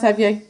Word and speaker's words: Abyei: Is that how you pronounce Abyei? Abyei. Yes, that's right.